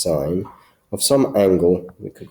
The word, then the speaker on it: sin: as s i n not sin but still pronounced sign of some angle we could call the angle